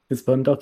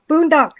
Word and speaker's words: Boondock: Oh, Boondock. Yeah. Okay. Like with the Boondocks. That's actually where we get it.